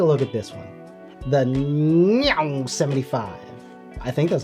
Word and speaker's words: Meow: The Meow 75. I think that's how you say it. Meow. Meow. Meow. It sounds like a cat.